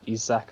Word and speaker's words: Isak: Just because Sweden are overly reliant on Forsberg right now and Isaac isn't in the best of form. Isak, I think is actually pronounced it, I but think it's Isak.